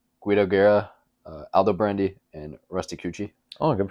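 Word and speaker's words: Rusticucci: Yes, and the next canto, Canto 16, involves Guido Guerra, Aldo Brandy, and Rusty Cucci. Oh, good pronunciation. Hopefully. I know I got Cucci right. Two C's make a ch sound, but anyways, I digress.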